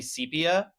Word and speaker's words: sepia: Apparently, you pronounce it as the latter, not the former. It's supposed to be sepia.